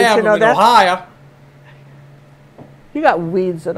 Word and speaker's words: Ohio: Ohio. You got weeds in Ohio.